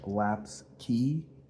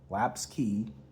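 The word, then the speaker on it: Lapps Quay: Apparently it's how it's said. I apparently messed up when I did a review of this. I got corrected on it. So Laps Key, got it right this time.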